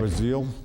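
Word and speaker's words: Brazile: what about Donna Brazil Brazil as how you say it was ill yeah who actually fed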